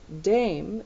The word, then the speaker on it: Dame: The woman is addressed with dame.